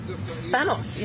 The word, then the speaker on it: Spanos: So I'm joined here, while we're waiting for Pele, by Brittany Spanos. Yeah. Is it Spanos?